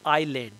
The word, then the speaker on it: island: and by the way the word is island s is silent iceland is ice actually